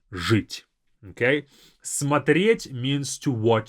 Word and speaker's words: жить: Now, this first ж, it's a very strong ж. Жить. Жить.